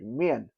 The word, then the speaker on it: 面: Chinese uh mandre language is very tonally important. So, men and men, even though it's the same syllable, it's totally different. Like men uh means face. Mian means uh denial or uh negative negativity. Uh so it's two different totally different thing.